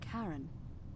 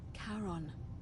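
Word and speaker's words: Charon: it's just as you described it only your pronunciation is a little off the name you heard wasn't Karen it was c h a r o n Kon karon the Fairman of the Dead karon who in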